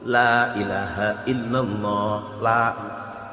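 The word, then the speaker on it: لا إله إلا الله: Jangan sampai la. Nah, ini yang sering terjadi. Masa lam fathah la, enggak mungkin. Harus la itu. La ilaha illallah.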